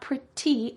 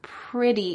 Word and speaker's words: pretty: We mentioned before that often a T will change to a D sound. We heard that earlier with the word pretty. pretty. It's not pretty, it's pretty in American English.